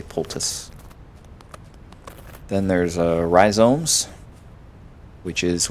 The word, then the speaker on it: poultice: Some people say poultice, but there's no S or C before the T, so I don't say poultice, I just say poultice.